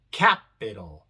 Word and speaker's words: capital: La acentuada es la primera, capital. Y la I, como viene en una sílaba no acentuada, se pronuncia normal, I, capital.